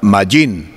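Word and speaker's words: מים: En el hebreo se le pronuncia al agua mayín, el uso de mayín desde los tiempos antiguos ha sido un elemento de grande importancia.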